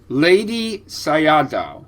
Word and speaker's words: Ledi Sayadaw: Burmese monk lady say lady Sayad uhhuh so almost like the the the word lady and then Sayad has no no rough equivalent in English but it's